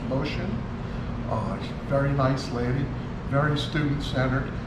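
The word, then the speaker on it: Mushin: is Karen motion vote spelled mu Shi n is pronounced motion very nice lady very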